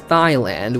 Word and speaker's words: Thailand: with teenage like I I pronounced Thailand as Thailand with it with the H in there and it's supposed to be a silent H so I just pissed